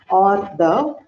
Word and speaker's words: hors d'oeuvre: So this is to be pronounced as hors d'oeuvre, which means appetizer.